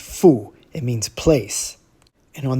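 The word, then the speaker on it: 阜: Now that it's on the left side, that radical is pronounced fu.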